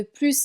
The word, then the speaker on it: plus: On ne prononce pas le S car on a une négation ici.